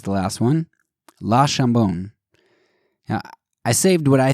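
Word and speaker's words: Le Chambon: But, and that's particularly bad here because I heard that La Chambon is, if you say it wrong, which is easy to do for non-French speakers, that you're basically saying ham, and the town's name is not Ham.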